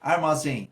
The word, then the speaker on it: armazém: Armazém, armazém. Qual é a sílaba tônica? É o zen. Como é uma oxítona terminada em, a gente vai acentuar, ó, armazém. Como é um timbre aberto, a gente vai usar o acento agudo.